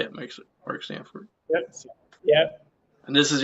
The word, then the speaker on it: Mark Sanford: Mark Sanford.